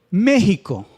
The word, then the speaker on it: México: dru hula porque porque el acento o la sílaba fuerte es el antepenúltimo y todas las palabras